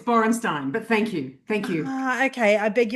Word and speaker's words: Borensztajn: Where did you get the G from? It's Borenstein, but thank you.